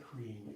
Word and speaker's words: Hreem: Now we'll do just a little bit of seed syllable chanting, and we'll just stick with Hreem, H-R-E-E-M.